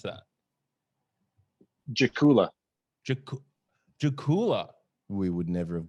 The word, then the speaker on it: Dzakula: herzegovina and then yeah anytime you see a d and z like that it's gonna pronounce it's gonna form like a strong j so right or just